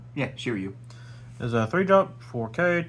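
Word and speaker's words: Shiryu: exciting card Story Time with rert next is shiru is that how you say his name yeah shiru there a three drop 4K 2K counter Dawn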